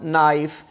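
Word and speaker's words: knife: silent होता है अच्छा इफ a word start from a खे एंड the next letter is एन यानी कि लेट वर्ड जो है वो के से स्टार्ट हो और के के फौरन बाद एन आ जाए देन के will be silent as like now knowledge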